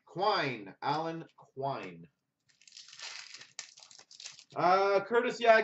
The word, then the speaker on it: Quine: How do you pronounce that? Alan Quinn? Quine. Quine.